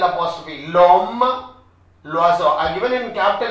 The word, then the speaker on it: l'oiseau: L'oiseau. It's not l'oiseau. It's l'oiseau. L'oiseau. Next.